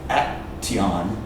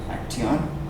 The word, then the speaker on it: action: Often in English, not always, but many times when there's a TI or a TU, remember? TU also, pronounce it ch. For example, naturaleza, nature. You don't say nature, you say nature. Just like right here, you don't say action. Action? No. It's action.